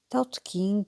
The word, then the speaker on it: Tao Te King: também é por vezes chamado Taut King seguindo a pronúncia correspondente ao mandarial usado em Pequim. Tout King, a designação tradicionalmente utilizada em Portugal corresponde à pronúncia encantonense, a variante usada em Macau.